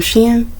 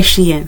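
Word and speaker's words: Shein: bought this hoodie from Sheen she en I always want to say she in it's hard for me to say Sheen but because it's spelled she in but anyway um yeah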